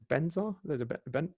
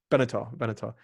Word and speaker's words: Benatar: Is it Benzar? Benatar.